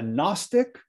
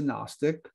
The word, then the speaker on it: gnostic: cult she was a gnostic the g is silent but it's not silent when you put an a in front of it an agnostic is somebody